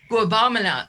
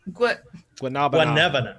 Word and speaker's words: guanabana: Guabamana. Say, how do you say Guanabana. Guanabana. Guanabana. Guabana? Everybody thinks he pronounces Right.